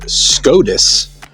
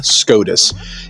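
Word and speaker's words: Skådis: our It's actually called SKADIS. It's actually how you pronounce it. SKADIS. It's an A with a circle on the top. So, that's actually pronounced as an O sound.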